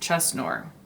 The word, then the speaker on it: CESNUR: agenda who is cesnor or an italian i think it would be pronounced chesnor c-e-s-n-u-r that's the title